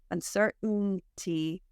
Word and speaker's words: uncertainty: stop say uhoh uhoh your your throat stops that sound otherwise it would sound like uh uhoh uncertainty it's like your throat closes and you're making the end movement with your tongue uncertain T all right and speaking